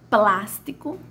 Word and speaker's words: plástico: Então, a minha sílaba a minha primeira sílaba da palavra plástico foi a que mais teve tonicidade, foi a minha de maior tonicidade, foi a que mais se arrastou, né?